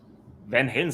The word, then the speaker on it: Van Halen: I think the actual pronunciation would be Van Halen. Something Correct. like that. The Dutch pronunciation. Van Halen sounds much cooler.